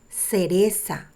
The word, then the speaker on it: cereza: Now the letter C sounds like a S because C is together E. Cereza. Cereza is cherry.